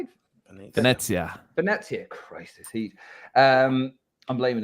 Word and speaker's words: Venezia: Venezia. Christ, this heat. I'm blaming the heat for my usual poor pronunciation this week.